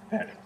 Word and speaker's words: färdig: Färdig.